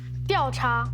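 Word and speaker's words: 调查: 第 2 声的 A。那你可不可以大声的说出来这 2 个字怎么念？调查。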